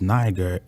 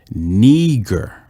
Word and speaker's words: Niger: It says Niger, but it says it's not pronounced Niger. Its pronunciation is Niger. Niger. It says it's of Latin origin. It means black.